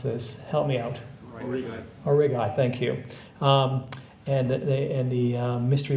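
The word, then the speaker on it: Aurigae: I can never pronounce this. Help me out. Origai, thank you.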